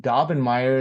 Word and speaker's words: Daubernmire: So one of the kind of comical ways that I help students remember my name Daubernmire is that it's alliterative or rhymes with hair on fire.